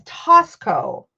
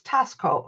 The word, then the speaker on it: Taxco: The letter X is pronounced S in Spanish. Oh, so it's Tosco. So it's Tosco.